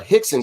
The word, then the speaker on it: Rickson: so yeah with uh portuguese r at the beginning of the name is pronounced with a a hard h so he had a brother uh hixon gracie it spelled rickson